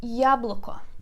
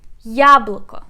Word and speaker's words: яблоко: Яблоко. Яблоко, it means apple. Яблоко. Let's put a stress together. Яблоко. We put stress on the first syllable.